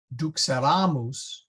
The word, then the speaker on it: duxeramus: Duxeramus, there's the accent, versus duxerant.